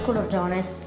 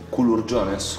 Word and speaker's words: culurgiones: Questi sono i culurgiones. Culurgiones? Culurgiones. Culurgiones. La pronuncia è importante.